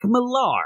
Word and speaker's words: Mark Millar: go wrong with is pronouncing his name wrong which I did for Years Mark Millar I I would call him yeah but also